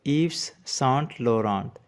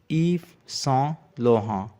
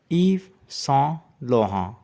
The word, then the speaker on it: Yves Saint Laurent: The S at the end of Eve is silent, and T at the end of Saint and Laurent is also silent. So say it with me, Yves Saint Laurent, with a typical French pronunciation.